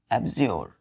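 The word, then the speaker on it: abjure: clear है 18 में लिगा एक वर्ड है एजर एजर ए बी जे यू आर ई एजोर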